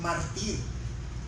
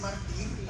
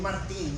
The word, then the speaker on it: mártir: Dios, que es un mártir? Un es martir, así se pronuncia en español. Él él es un mártir, no un Martín, un mártir y mucha gente lo